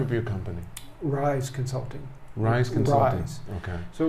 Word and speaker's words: Ryze: name of your company rise consulting rise consultants okay so right now with a z yeah well it's spelled r y z e z quite common